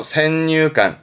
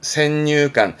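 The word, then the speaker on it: 先入観: 발음 그래서 센유관, 센유관.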